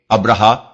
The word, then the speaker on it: ابرہا: مورخین ابراہام لکھتے ہیں۔ ابرہا غالباً اسی کا حبشی تلفظ ہے، کیونکہ عربی میں تو اس کا تلفظ ابراہیم ہے۔ یہ شخص رفتہ رفتہ